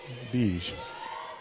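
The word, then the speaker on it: Bijic: ribbit and cleared by beige for Central Wyoming I mean from Surrey her last name is spelled b-i-j-i-c but pronounced beige Christensen nice rebound there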